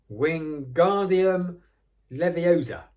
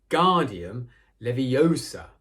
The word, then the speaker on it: Wingardium Leviosa: having much more luck Wingardium Leviosa he shouted waving his long arms like a windmill you're saying it wrong Harry Hermione snap it swing Guardium Leviosa make the GAR nice and long now how you do